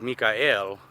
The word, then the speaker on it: Michael: Even in my name, Michael, is pronounced Mikael, that who is like God, because El is the God aspect.